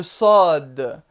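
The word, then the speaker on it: صاد: Le sod. Le sod, cette lettre-là, est le S emphatique, c'est-à-dire le S prononcé de façon grave.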